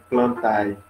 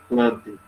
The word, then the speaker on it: plantae: E o reino plantae, que a gente pronuncia desse jeito assim, não é plantae. A gente pronuncia plantae.